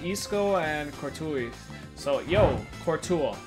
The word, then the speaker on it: Courtois: So, yo, Courtois, right?